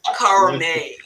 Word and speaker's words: Cormier: He is Carl Cormier, and it rhymes with gourmet.